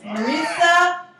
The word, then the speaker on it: Marisa: Marisa rhymes with Teresa.